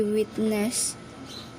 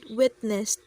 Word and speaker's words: witnessed: of the end they witnessed the colorful fireworks display she mispronounced the word witnessed as witness as kel was looking